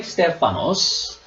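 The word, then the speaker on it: στέφανος: my joy and Crown okay crown all you pronounce step five most fun stefanos okay stefanos there is a two different Greek words that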